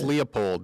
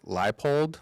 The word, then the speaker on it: Leipold: is that is that coach uh no Lance Leopold that's not what I call him that's not actually how you say his name it's Lance leipold but it's not really spelled that way but